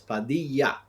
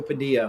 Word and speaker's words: Padilla: So yeah, but yes, in Spanish the two L's make a Y pronunciation. So Padilla, who the question was a little background on me Yes, yes.